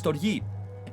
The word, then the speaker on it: Storge: How would you pronounce that? Storge? Surge? You can't, but it is Storge.